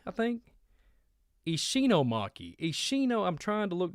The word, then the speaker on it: Ishinomaki: And I think it's called Ishikomaki, I think. Ishinomaki. Ishino, I'm trying to look down and pronounce it.